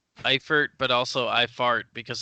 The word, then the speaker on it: Eifert: end or its own Eifert yeah because you're putting the emphasis on the wrong syllable right yeah props some